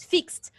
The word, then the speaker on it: fixed: pronounce it what you pronounce the verb with t at the end excellent fixed remember this example fixed